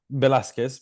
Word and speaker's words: Velasquez: Now, Velasquez, is that, I've pronounced it correctly, have I? Velasquez, but don't worry. Velasquez, yep, sorry, is based here in Brisbane.